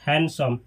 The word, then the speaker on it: handsome: ये जो लिखा है इसमें डी को नहीं पढ़ा जाता है, डी को नहीं बोला जाता है। डी का प्रोनाउंसिएशन नहीं किया जाता है, डी को स्किप कर दिया जाता है, इसको पढ़ा जाता है हैंडसम।